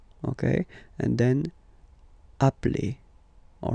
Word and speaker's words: appelle: So when you get this a vowel and then you get a double consonant, and well, they are the same, then it does change the pronunciation of a. You tend to pronounce it like really open. That's the reason why you pronounce it appel.